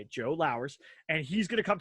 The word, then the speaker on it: Lowers: World Series of Comedy, Mr. Joe Lowers, like Flowers without the F. So when you think about it, if you want to know, that's how you say it, Joe Lowers.